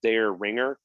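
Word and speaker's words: Dareringer: spelt like the pizza but um it's we pronounced like this one spelled dare ringer honestly this one is named after the biggest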